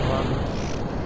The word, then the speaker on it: Mun: pronounce that name, but I know in game it's spelt mun, so I feel like I should pronounce it mun.